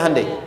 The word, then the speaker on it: Hyundai: bikin Honda sini HD hyundaikan dibacanya Handai sana Honda apapun yang